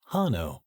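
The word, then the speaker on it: Hainaut: the county of Hano that's pronounced Hano regardless of the names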